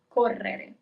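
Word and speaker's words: correre: To run is double ror. You see it's a little bit longer over there where we have the double air. Cor is to run.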